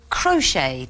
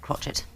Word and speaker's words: crochet: it Oh horrific ly they're all words that close with a silent letter from column debris crochet